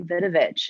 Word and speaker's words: Vidovich: yeah all right and you said my name right thank you for the whole world vinovich it is a very easy name to pronounce people like to over